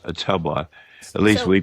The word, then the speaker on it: Ottumwa: Oh, Ottumwa, Iowa. Ottumwa, Iowa. It's Ottumwa. Right. Okay. It's pronounced Ottumwa.